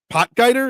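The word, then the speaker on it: Potgieter: his last name um potger is that how you say it potg yeah potg everybody seems to be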